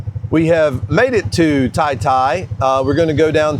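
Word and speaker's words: Taytay: We're leaving San Vicente and going to Tai Tai. It's spelled like Tay Tay, but it's pronounced Tai Tai.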